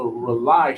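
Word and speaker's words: RAULI: video all over the world this is the rely show it's spelled r-a-u-l-i on Instagram going follow the rely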